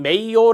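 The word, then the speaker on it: Mayo: 입니다 테일러의 과학적 관리론 입니다 자 인간관계론 학자는 메이어 라고 읽어요 메이 원대에 신 고전 모양의 인간관계론 1번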